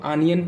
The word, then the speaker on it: onion: तो जैसे ऑनियन लिख दिए तो हम कुछ लोग इसको आनियन पढ़ते हैं, कुछ लोग ऑनियन पढ़ते हैं, ठीक है। तो ओ का उच्चारण यहाँ पर हम आ के रूप में कर रहे हैं।